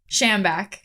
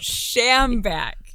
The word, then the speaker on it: Schambach: And make sure you get the last name pronunciation right, too. Oh, F. Schambach? Schambach. That's why I said to figure it out. Schambach.